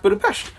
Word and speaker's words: Budapest: 1872 it is pr it's supposed to be pronounced budapest interesting okay well then